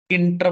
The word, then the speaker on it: Tkinter: देखो यहाँ पे लाइब्रेरी आपने लिखनी है इंटर, किंटर बोलते हैं इसको, किंटर, टी साइलेंट होता है।